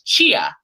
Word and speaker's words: Chia: He goes, "No, you're saying it wrong." And I was like, "What do you mean I'm saying my last name wrong?" They're like, "No, it's Chia."